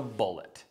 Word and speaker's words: Bullit: one was the heckler this one is the bullet you know what rhymes with bullet mullet guess what this bike